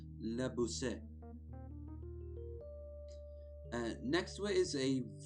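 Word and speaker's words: Beausset: But Bousset is how you say it around that part of France.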